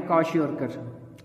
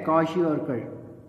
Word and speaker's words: kwashiorkor: तो ये डिजीज का नाम देखिए, KWASHIORKOR, इसको कैसे प्रोनाउंस करना है, इसको कहना है कौशियोरकर, ठीक है, कौशियोरकर।